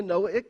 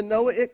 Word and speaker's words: Noahic: Just say the word Noah, Noah, and then add the suffix ik to it.